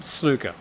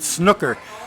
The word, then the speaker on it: snooker: would just pronounce it snooker. But uh one of the first things that Rob did was correct my pronunciation and tell me it's it's pronounced like zoo uh not uh put.